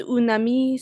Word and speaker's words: un ami: Ils sont invités chez un ami ce soir. Parfait. Just being a pain in the ass on this one. Un ami. Un ami. Right, because you'll be tempted to pronounce that une.